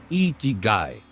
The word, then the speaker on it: Ikigai: It's pronounced Ikigai, and it's a Japanese concept that loosely translates to reason for being or reason to get up in the morning.